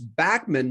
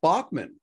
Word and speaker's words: Bachman: it's like randy bachman it's backman not bachmann but back but bachmann